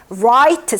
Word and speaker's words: write: 근데 W 뒤에 R 오잖아요. 그러면 이 W는 발음이 갑자기 이제 없어져요. 그냥 R 발음이 나요. 그래서 wrist 발음 안 나고요. 우리 왜 write 쓰다 라는 단어 있잖아요.